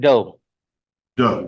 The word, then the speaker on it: Do: you sp say your last name how you pronounce it do do okay Mr do uh how old are